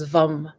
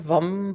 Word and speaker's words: vam: I have the sound, which is vum, vum, vum. It's sort of it's spelled VAM, but it's sort of a rounded sound, vum, vum, vum, vum.